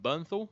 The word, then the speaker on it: Bernthal: Completely forgot about John Bernthal.